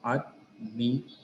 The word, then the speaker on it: admiration: So the stress will fall on the penultimate syllable, that is re, admiration. The same is the case with all the remaining words also.